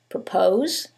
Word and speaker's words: propose: However, in the first one, it's the second syllable that's stressed, and in the second one, it's the first syllable, and that changes the pronunciation completely. The first word is propose, and the second word is purpose.